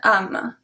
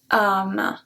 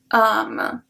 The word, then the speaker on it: âme: We will say une âme, âme. But because there is the accent circonflexe, we pronounce it longer. Une âme, âme.